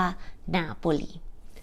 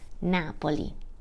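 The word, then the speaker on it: Napoli: ทาง ใต้ นะ คะ ชาตเลียน จะ เรียก ว่า นาโปลี นาโปลี เมือง ต่อ ไป ค่ะ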